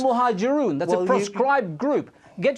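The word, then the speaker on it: Al-Muhajiroun: You can't even pronounce the name of the group that you've mentioned. It was routinely the case. It's Al-Muhajirun.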